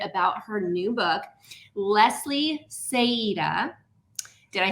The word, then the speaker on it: Saeta: a little bit about her new book, Leslie Saida.